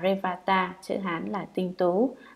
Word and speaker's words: Revata: Ngài Li Bà Đa, Ấn Độ đọc là Revata, chữ Hán là Tinh Tú, là bậc không điên đảo rối loạn đệ nhất, tức là ngồi thiền định.